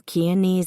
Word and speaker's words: Keaney: Gail Keaney rhymes with easy was pregnant.